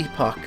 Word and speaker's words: epoch: chair refers to the epoch of the three ancient civilizations which coexisted many thousands of years ago yeah I know it's epic but I pronounce it epoch those three sit